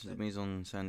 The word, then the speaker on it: mise en scène: should talk a bit, sorry, Josh, about the mise en scene, if I could say here, because it is the most kind of Wes Anderson-y type scene. Yes, mise en scène. Yeah, it's Thanks for pronunciation.